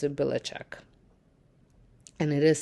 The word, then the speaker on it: Belichick: same last name, but I think his they pronounce it Belichick, and it is spelled a little bit different, but only because it got changed when his ancestors moved to U.S.